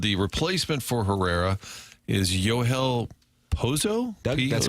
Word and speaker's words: Yohel: Is it Yonel? Maybe. I thought it was Well, according to Derrick, it's Yo Hel.